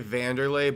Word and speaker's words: Wanderlei: The fact that you have to say Vanderlay but it's spelled Wandererlay is tough.